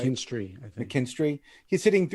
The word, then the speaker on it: McKinstry: The hottest pickup right now in the waiver wire is this kid from the LA Dodgers, is Zach Mckinsley. Did I say it right? Mckinstry, I think.